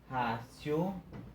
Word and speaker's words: ratio: Esse T procura, né, pronunciar com uma mistura de T e C, né?